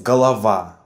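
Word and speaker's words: голова: that is under stress galava head it is pronounced as galava with the last letter R under stress when you are a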